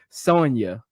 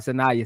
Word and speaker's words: Sonia: differently man but uh Joseph said it's Sonia Sonia Citron not sayaa Citron so it's Sonia Citron